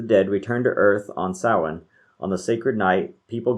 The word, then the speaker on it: Samhain: of what a lot of people say is samhain and that's actually a wrong pronunciation the actual it's actually gaelic and it's pronounced samhain and so it was a sahan celebration it was one of the sabbats which